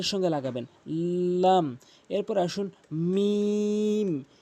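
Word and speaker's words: ميم: এরপর আসুন মিম। মিম দুই ঠোঁটের ভেজা অংশ মিলিত করে মিম এভাবে উচ্চারণ করবেন মিম।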